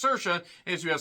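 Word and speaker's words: Saoirse: she's fine the only reason I know is pronounced sersa is you have sersa Ronin who is the more successful of the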